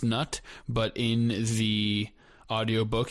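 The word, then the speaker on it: Knut: So, she tells us that she agrees it it should be pronounced nut, but in the audio book he vocalizes it just to make it clear that there's a K on there if you're just listening to it.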